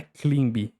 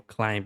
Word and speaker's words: climb: Então olha só, essa palavra não é clim. Climbou climb é climb. Climb. Termina com som de m no final fica climb.